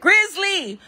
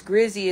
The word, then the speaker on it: Grizzy: recorded, and he's like, "Grizzly, where you at, girl?" And I shared it on Instagram, and the day one peeps are like, "Why is he saying your name wrong?" And that just opened a huge discussion. And they're not even worried about what's on the video. They're like, "Oh my God, I've been saying her name wrong all this time." Somebody's saying, "Oh, it's Grizzy, it's Grizzy."